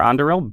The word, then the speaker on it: Anduril: I think this is less of an issue for Anduril, but I did the Tolkien pronunciation there, but your prominent founder, Palmer Luckey, is a prominent Republican.